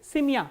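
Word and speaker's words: семья: And ye sound becomes e when it is not stressed, like in simia. Simia is family.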